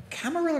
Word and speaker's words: Camarilla: Camarilla is spelt like gorilla, right? Yeah, double L.